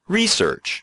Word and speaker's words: research: our characteristic sound, and others pronounce it research. You can stress either syllable. But that's not true when you use research as a verb. In that case, the stress should go on the second syllable.